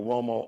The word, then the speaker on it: Uomo: Now Uomo, it's got the wo, like W-O sound, but it's spelled with a U.